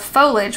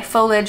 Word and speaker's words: foliage: your videos forever ago why the pronunciation of foliage without the eye foliage versus foliage i started watching your videos and thought oh my gosh i've been saying it all wrong all these years then googled the pronunciation and all the online examples say foliage with the i sound um there was even